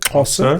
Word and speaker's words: Xhosa: X is like the horse, like Right, so like the language Xhosa, that's how you say it, Xhosa.